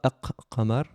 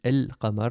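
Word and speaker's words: القمر: On ne dit pas Aq Qamar. On double pas la consonne, on dit El Qamar, on le prononce de manière normale.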